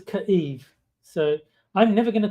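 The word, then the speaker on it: Kyiv: It's either going to be Kev or Kiev depending on well which one's more right.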